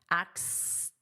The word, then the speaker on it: axed: So we have that S sound, axed, and then this is pronounced as a T, axed.